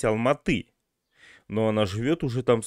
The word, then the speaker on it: Алматы: такую момента обратил а девушка говорит в алмату правильно говорить алматы но она живет уже